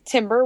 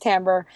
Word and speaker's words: Timbre: and often people pronounce Timber which is no problem if they're saying the name of our website we're happy but it's technically pronounced tamber but it's nonetheless spelled with an i and it's r e